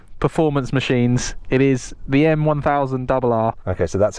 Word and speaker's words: M1000 RR: It is the M1000 Rr. Okay, so that's how you say it, M1000 Rr.